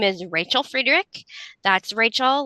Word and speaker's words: Friederich: Hi, my name is Rachel Friedrich. That's Rachel, like one of the characters from Friends, and Friedrich, it's spelled Friday Rich.